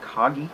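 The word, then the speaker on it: Kage: Hudson's Adventure Island, The Legend of Kagi, I believe is how you pronounce this. I remember for years I thought it was Legend of Cage, but it's actually Legend of Kagi from what I've heard or seen around there.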